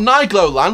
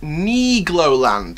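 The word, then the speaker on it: Nigloland: neig lowland it's not night lowland like I first thought it's knee Glo land thanks to a French viewer and you know who you are big shout-out to you for comments in the right pronunciation for it so nikla lands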